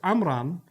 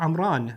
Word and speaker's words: Amram: of the word so the name imran is originally hebrew likely pronounced amram or amran so there's an m